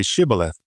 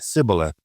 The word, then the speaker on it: Shibboleth: When he said no, they said to him, "Then say Shibboleth." And he said Sibboleth, for he could not pronounce it right.